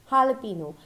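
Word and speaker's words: jalapeño: ano but it is not right the correct pronunciation is jalapeno a sewer jalapeno is our sweet and chili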